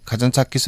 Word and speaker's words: 카잔차키스: 왜 왔냐고 하는데 영어들을 못 하시니까 니코스 카잔차키스 홈 뭐 그런 얘기를 하면 여기 발음이 달라요. 카잔차키 그래요. 숫자를 안 붙이더라고요.